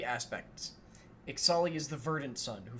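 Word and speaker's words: Ixalli: So, I think that's Ixali. Because we've been told that... Ixali? Yeah, because we've been told that the X is pronounced like Ixalan, so... Okay. Ixali's Keeper.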